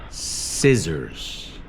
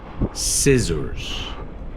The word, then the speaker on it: scissors: s's and C's and that SC is often pronounced soft very good so like